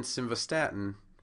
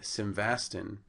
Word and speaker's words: simvastatin: on the second syllable and in simvastatin it's actually on the third syllable but we're going to